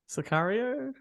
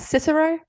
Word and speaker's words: Sicario: with Jason seagull hey sicario no oh isn't that Cicero what I thought it was Cicero no that's not how you pronounce it no it's sicario oh okay that's cooling